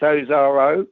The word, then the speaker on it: Ozarow: name, which is Polish, Ozarow. Yes. Oh, Is that that's close? probably a Polish pronunciation. It's Ozarow, English pronunciation.